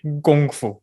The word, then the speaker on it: Gong Fu: And the greater bulk of Chinese people speak Mandarin Chinese, which is nowadays the standard Chinese, in which we say Gong Fu with a G.